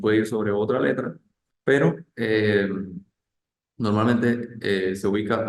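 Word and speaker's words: père: e aang grab r e m así como per Sería padre per P E acc grave r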